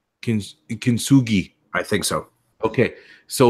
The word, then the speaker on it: Kintsugi: I think it's a hard G. Kintsugi. G. Kintsugi.